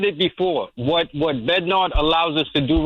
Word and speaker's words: Bednar: um what you said about uh Bennyard uh I get I always have problem pronouncing his name which one I'll close it out yes Bednar I'm Sorry, Bednar.